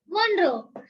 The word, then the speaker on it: Monro: Pronounce it. Wait. Foramen of Monro. Monroe.